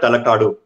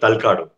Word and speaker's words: Talakadu: They call it Talakadu. Or sometimes people call it Talakadu. That is how it is pronounced.